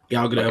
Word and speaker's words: Gal Gadot: Am I pronouncing her name right? Yeah, Gal Gadot.